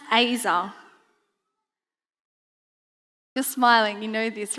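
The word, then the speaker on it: עזר: Z-E-R, pronounced Azer.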